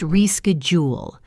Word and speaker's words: reschedule: In American English, it's pronounced reschedule. The stress is on the second syllable, reschejool.